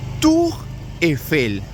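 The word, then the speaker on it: Tour Eiffel: decimos Torre Eiffel bueno en francés se le va a denominar tu efel repito tu Excel y la sería entonces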